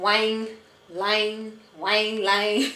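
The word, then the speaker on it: ylang-ylang: drops of all of them peppermint and some wine L wine L it's spelled y l a n g y l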